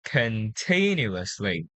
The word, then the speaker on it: continuously: Here, it should be continuously. Continuously. Yes, the stress is on the second syllable.